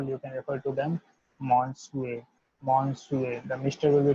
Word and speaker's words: Monsieur: means Monsieur, Monsieur, Monsieur, because the S will be delivered as Sue, I will be delivered as E, and E will be delivered as EU, EU.